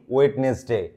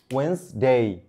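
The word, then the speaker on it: Wednesday: Alright, তারপরে আমরা বলি ওয়েডনেসডে, না, ওয়েডনেসডে না গুরু। এই যে আমি আবার বলে দিই, এই যে ডে না কিন্তু আজ থেকে কি বলবো আমরা তাহলে, ডে, ডে। তাহলে একই ক্ষেত্রে এই ডি এর উচ্চারণ আসবে না, ঠিক আছে? ওয়েন্সডে, ওয়েন্সডে, ই এর উচ্চারণ আর ডি এর উচ্চারণ আসবে না। তাহলে এটার উচ্চারণ হলো ওয়েন্সডে, ওয়েন্সডে।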